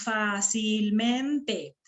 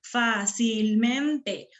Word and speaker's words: fácilmente: Decimos fácilmente, fácilmente. ¿Cuál es la sílaba que suena más? La AMI. la fa, ¿no es cierto? Esta sílaba suena más.